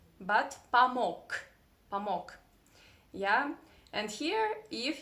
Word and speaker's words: помог: Yeah, here is another very interesting Russian pronunciation trick that if there is g, this consonant g, in the end of any Russian word, you need to pronounce it as k, not помог, but помог, помог.